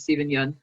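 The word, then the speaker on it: Steven Yeun: seeing that stephen i you have the correct pronunciation is it you n stephen young i think okay i apologize steven yun um if he got nominated in best actor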